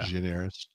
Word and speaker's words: Gianaris: Gianaris. it's a Greek name, Paul. You got to add the accent to Gianaris. it. Yeah, Gianaris.